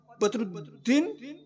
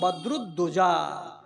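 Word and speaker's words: বদরুদ্দোজা: বাপ রেখেছে ভেজেলা নাম ও ছেলেটা আর একবারে উচ্চারণ করতে পারে না একবার আপনার নাম বদরুদ্দিন বাবা আদখানি হইলো আদখানি যে হইলো না রেদুর নয়রে বাবা আমার নাম বাদ দোজা জেনে নিয়ে জেনে নিয়ে আমার ওয়াজের ক্লিপ পর্যন্ত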